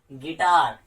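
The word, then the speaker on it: guitar: अब यू की कंडीशन, अगर यू से पहले जी आ जाए तो उस कंडीशन में यू लेटर साइलेंट हो जाता है, यू को हम नहीं बोलते हैं। जैसे गिल्टी, गिटार, गैस या फिर गार्ड,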